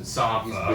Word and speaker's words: Sampha: I think it's pronounced Sampha because he's Sampha.